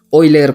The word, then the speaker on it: Euler: esto es que y después por hoy leer verdad que se escribe euler pero dice la leyenda